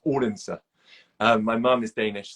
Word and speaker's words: Odense: odense how we would say but it's it's pronounced ordinster um my mom is Danish so it was